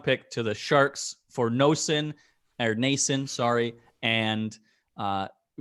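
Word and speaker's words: Noesen: well from the sharks uh or nason apparently it is even though it's absolutely not how it's spelt i don't know sometimes it's very confusing but m-o-e-s-e-n apparently makes nason um he's he he's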